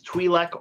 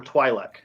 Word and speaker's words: Twi'lek: race dude I'm gonna give you two pronunciations Twi'lek or Twila I'll take either one sir no give you two